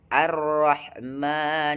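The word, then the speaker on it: الرحمن: H di sini ditukar H tengah tenggorokan diganti menjadi H pangkal tenggorokan yaitu H dan H seharusnya H tengah tenggorokan yaitu alif ba ta sa jim ha ha ha bukan ha jadi bacaannya arrahman Irahim.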